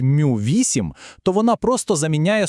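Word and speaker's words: μ: Ось ця хитра грецька буква Мю, яка читається як мю - це мікрофаради.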